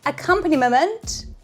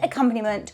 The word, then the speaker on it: accompaniment: back to my Channel today we're making the best accompanyment I said it wrong again I've never ever used